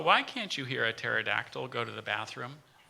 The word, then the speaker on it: pterodactyl: can't you hear a pterodactyl go to the bathroom it's a great question for a radio reporter it's because the P is silent pterodactyl could you say it